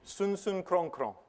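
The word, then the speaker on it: Sunsum Kronkron: The Father and the Son, not surprisingly, send, or as they say in Ghana, the sun sun krong krong, which is how you say Holy Spirit.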